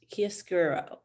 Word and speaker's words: chiaroscuro: hi everyone this is a little talk on kiss guro and that's how you pronounce it kia skuro so we are using kisguro the use of light and dark to establish